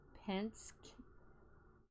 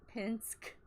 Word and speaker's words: Penske: Penske.